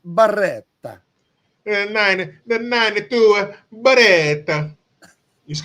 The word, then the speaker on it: Beretta: Hey, you gotta say it like a real Italian stereotype. Beretta.